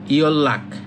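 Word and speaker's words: 연락: এই যে নিউনের পরে যদি রিউল থাকে তখন এই নিউনের উচ্চারণ হয় রিউল, তাহলে এটা হবে ইয়ল্লাক।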